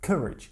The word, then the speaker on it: courage: Courage. Не courage, а courage. Я был не прав в произношении, слушайте.